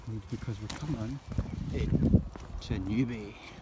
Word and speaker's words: Newbie: It's actually interesting, that house there is called Newbie House, but it's spelled N-E-W-B-A-Y, when actually the settlement of Newbie itself, I don't know if you call it a hamlet or anything, but it's spelled N-E-W-B-I-E.